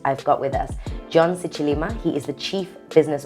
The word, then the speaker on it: Sicilima: Yeah, you know, because most people usually say Sicilima. Yeah. And you're one of the few who actually says Sicilima.